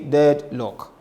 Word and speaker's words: deadlock: So when you say it, don't say it separately and say dead lock. Say dead lock. Deadlock.